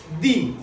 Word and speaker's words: the: আমি তোমাদের আবার বুঝাই যখন কোন শব্দের আগে দি বসবে এবং সেই শব্দের প্রথম অক্ষরটি যদি কনসোনান্ট হয় সরি ভয়েল হয় প্রথমে দি থাকবে তার পরের অক্ষরটি যদি ভয়েল হয় তাহলে তার আগে যে টিএইচই বসবে তার উচ্চারণ হবে দি বুঝতে পেরেছো তোমরা সবাই আবারও